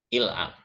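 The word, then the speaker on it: العفو: Orang Mesir sering mengatakan yang ini, il'af. Asalnya al-afu. Asalnya kan begini. Al-af. Alif lam dalam amiyah Mesir baca il. Jadi terdengar il'af. Wawunya nggak dibaca.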